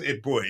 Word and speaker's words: Eboué: I think it's pronounced Eboue, yeah.